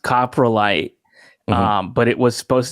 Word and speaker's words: coprolite: Um it's spelled and pronounced coprolite.